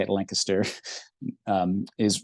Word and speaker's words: Lancaster: is um and that's how you say it Lancaster um is right in the middle of the